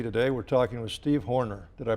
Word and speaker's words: Horner: Today we're talking with Steve Horner. Did I pronounce that right? That's right. Pretty close? It's just like little Jack Horner sat in a corner.